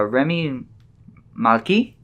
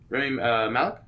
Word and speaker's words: Rami Malek: Remy Malky. Rami Malek. Malek, yeah, Rami that's Malek?